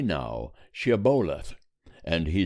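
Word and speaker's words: shibboleth: nay then said they unto him say now she boleth and he said siboleth for he could not frame to pronounce it right then they laid hold on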